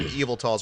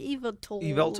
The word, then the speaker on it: Yveltal: yeah he was which no one ever knows how to pronounce it they're always like evil tool belt all because of you but like other people say weird stuff like your Bible tall yeah it's like Harry